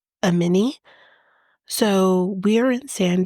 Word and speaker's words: Amani: said her name um cuz it is spelled like ammani but it's I think it's a mini so we are in